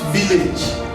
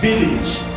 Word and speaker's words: village: It's not village, it's village.